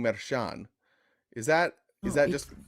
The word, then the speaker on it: Merchan: you're pronouncing you're saying Maran is that is that just is that the correct way to say it it's not Shan that would be a French pronunciation Chan like yeah it's